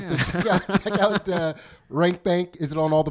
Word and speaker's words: Rank Bank: So come check us out for $1 and check out The Rank Bank, which is Dave's podcast.